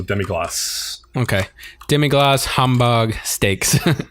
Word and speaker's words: demi-glace: is a fantastic place it's Glatt glasses the French pronunciation so demi gloss okay demi glass humbug